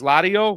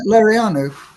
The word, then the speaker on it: Laureano: I know there's a lot of people who kind of look and say, I believe his son's name is Lario, or how do you pronounce it? Laureano.